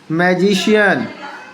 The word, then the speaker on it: magician: अब इसके बाद मैं आपको बताता हूँ, सी का उच्चारण शा होता है। जैसे देखिएगा, आप कैसे होगा, मैंने अभी बताया था। मैजिशियन, देखिएगा, मैजिशियन, देखो यहाँ पर आई है, तो MAGICIAN मैजिशियन।